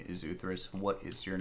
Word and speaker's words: Uthris: All I said in Japanese there was, hello, my name is Uthris. What is your name? You don't pronounce the S, whatever.